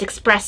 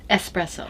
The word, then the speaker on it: espresso: please Express up espresso I know that's not how supposed to be pronounced but that was something else they discussed in my class from brick courses with the fact that a lot of people take that ah yes sound and make an F